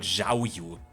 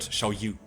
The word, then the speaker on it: Xiao Yu: She's not called Zhao Yu. She's called Xiao Yu, right?